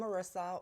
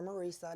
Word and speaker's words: Marissa: I'm Marissa, or Marisa, depending on how you want to pronounce it. Both are right.